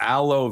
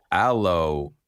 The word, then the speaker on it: Alo: be the next prompt aloe vera pronounced alo alo alo alo like aloe vera Alo okay all right